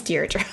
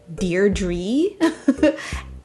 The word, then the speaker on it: Deirdre: she's deirdre so um i have also learned that if you live in the uk you may pronounce this name deardree that i've never heard that before but that was said to me in the comments so in the uk i've heard it deirdre and in the us